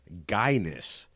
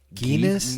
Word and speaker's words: guyness: Okay, the word is guyness. G-U-Y, guy, ness, N-E-S-S, guyness. What would be the definition of Is it guyness? pronounced Guinness?